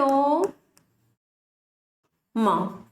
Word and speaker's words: ओम: प्लुत स्वर जो है इसके अंतर्गत क्या आ जाएगा, ओम, जिसका उच्चारण होता है ओम, म।